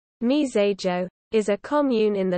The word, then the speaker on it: Mizérieux: myterius french pronunciation mesa joe is a commune in